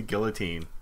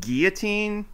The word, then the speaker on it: guillotine: We're watching Columbo Goes to the Guillotine. Yeah, which is technically pronounced guillotine, but oh my god. But everybody in this story pronounces it guillotine because it's not French. They're not French.